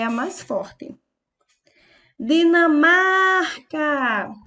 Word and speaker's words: Dinamarca: a mais forte a Dinamarca EA palavra Dinamarca é uma paroxítona porque a sua penúltima sílaba o mar é a sílaba mais forte Espanha e a palavra